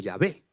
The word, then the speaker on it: Yahvé: Sabéis que luego ponemos vocales para poder pronunciar el nombre de Dios como Yahvé.